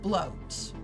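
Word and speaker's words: blót: Oh, it is pronounced bloat.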